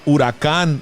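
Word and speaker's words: Huracán: this album hurricane beulah no it's called urakan bula okay do you notice how it's spelled h-u-r-a-c-a-n you know what dude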